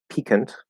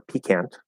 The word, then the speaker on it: piquant: So apparently it's pronounced, so you can stress it on either syllable, and it's supposed to be pronounced piquant or piquant, or you can stress the second syllable and say piquant.